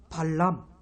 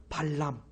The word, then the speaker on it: 발람: 및 떼어 설명 합니까 발람 따라해 보겠습니다 팔람 발음을 잘 하셔야 되요 발람 왜냐하면 발락 보안도 있기 때문에 이 발라 광이 발람